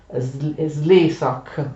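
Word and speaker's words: Szlezák: Un ungherese, credo che sia un ungherese, che si chiama Slezak, con l'accento sulla E, anche se c'è un accento sulla A, significa solo che questa A è lunga, ma l'accento è sulla prima sillaba.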